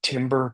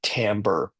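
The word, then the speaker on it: timbre: This word, I know you're saying timber, but it's actually pronounced tambber.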